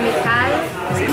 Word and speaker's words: Michal: It's Michal. Michal. I'm gonna get this down right. Michal. Right? Yes. It's like Michal. Michal. But you're doing a cha. A cha sound.